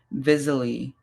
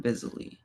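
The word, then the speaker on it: Visily: And then Vizily, which is like visibility but silly at the same time. Visally.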